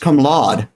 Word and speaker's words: cum laude: I heard it as pronounced cum laude. Something like that. But maybe they were saying it wrong. Low as in allow.